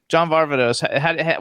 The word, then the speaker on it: John Varvatos: do you how do you how do you pronounce barbados john varvatos what's the correct pronunciation that's exactly you just